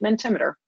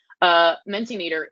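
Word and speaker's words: Mentimeter: forward is minty meter my pronunciation was recently corrected I was calling it mint immature apparently it's and then sin meter meant a meter I still want to say mint ammeter it's fossilized menti meter is really neat for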